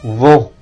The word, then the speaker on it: vent: Yang perlu diperhatikan di sini adalah ENT karena dia lebih di dalam, vent dan lebih keras, le vent.